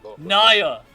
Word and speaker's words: Nya: It's Nya, by the way. Nya. So I have been mispronouncing it for the past 2 years.